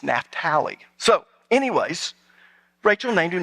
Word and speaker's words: Naphtali: We always said Naphtali until I went to Israel my third time, and the guide there was named Naphtali. I said, well, we always pronounce it Naphtali. He said, you're Americans. My name is Naphtali.